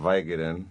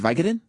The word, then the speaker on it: Vicodin: Vicodin, like company. But it's Vicodin. With a C-O. Yeah. That's how the word is spelled. You don't say company, you say company. Right? Vicodin, not Vicodin.